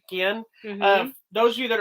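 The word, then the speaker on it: Guillén: How would you say Guillen.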